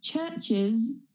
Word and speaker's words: churches: us and we say churches or churches, then you are correct. We add that extra syllable because the word church has one of those sounds that we talked about in the third rule.